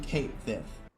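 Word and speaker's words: Cait Sith: that's pronounced elsewhere, but in the West we already have a word that's written like that, and popular fiction that we know is this series pulls from heavily, and it ain't pronounced she. It's pronounced sis.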